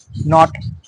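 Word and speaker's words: knot: করলে নি উচ্চারণটা আসবে যেখানে কে তোমাদের সম্পূর্ণভাবে সাইলেন্ট থাকে নি মানে হাটু নি তারপর হল নট নট নো নো কে এন ওড নো দেখটা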